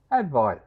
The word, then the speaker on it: advice: Advice. Advice is a noun. It is never a verb. Advice rhymes with the word ice, which is also a noun.